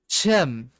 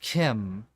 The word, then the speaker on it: CHIM: Chim Oh, I'm I'm wrong. It's pronounced Kim.